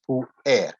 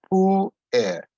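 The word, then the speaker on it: puer: to be declined as poor air there's two vowels so it's two syllables pull air now from which we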